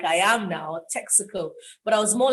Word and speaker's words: Texaco: also a bus stop but people don't know it as texaco they know it as tezaku i i wasn't so